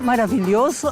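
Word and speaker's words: maravilhoso: Una palabra para mí es maravilloso, porque castellano se dice maravilloso, pero en portugués maravilloso a mí me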